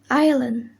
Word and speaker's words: island: the letter s rule s is not pronounced before l in the following words example island isle l island and